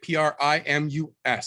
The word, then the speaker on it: Primus: p r i right p r i m u s so if you went phonetically that would be primus like optimus prime just take the e out and put us in it yeah it's crazy it